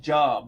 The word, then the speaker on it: Job: So, like, if you open the Bible, and there's this book called the Book of Job, and it's spelled J-O-B, like Job, but it's pronounced Job.